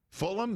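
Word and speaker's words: Fulgham: never heard of before Fulham the g is silent correct and I think so yeah he goes up top Travis Fulham is that Travis Fulham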